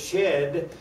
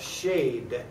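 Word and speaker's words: שד: out to me that some people do pronounce this shed, but you also have the pronunciation up there of shade.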